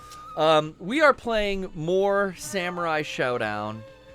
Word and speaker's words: Samurai Shodown: we are playing more Samurai Showdown and I say it that way because it's spelled that way Brian did you hear